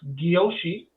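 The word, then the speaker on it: Gyoshi: G Y O S Hi, pronounced guoshi.ca.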